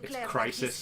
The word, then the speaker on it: Chrysis: It's Crisis, Crisis, but it's spelled C-H-R-Y-S-I-S.